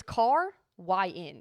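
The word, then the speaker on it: Caryn: Okay, it's it's car yin.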